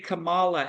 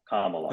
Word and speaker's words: Kamala: I think that if the handlers can play Camala as a GameStop type let me stop let me stop let me stop you right there it's pronounced comma like no no like comma like K yeah Kamala okay my miss my mission is to get